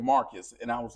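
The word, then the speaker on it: Marqus: Uh his name is Marcus Clay and it's spelled differently. It's spelled M A R Q Us. That's Marcus. That's how he spell it. And Clay, he spelled it C L A E.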